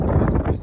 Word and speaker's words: Nearest Green: His name is Nearest Green.